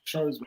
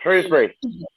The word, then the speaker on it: Shrewsbury: Come on, it spells Shrewsbury, pronounced Shrewsbury. Shrewsbury.